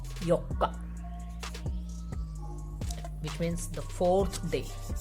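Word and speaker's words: 四日: If we are writing these together, these would be pronounced as yokka, which means the 4th day.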